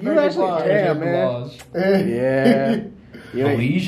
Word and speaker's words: Blige: Blige, how do you say it? Huh? Blige. Blige? Yeah. Oh, Blige. Like obliged, yeah.